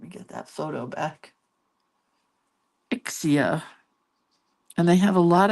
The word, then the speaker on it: Ixia: Ixia Where do they grow? I have no idea. Accent on the first syllable. Ixia Is that right?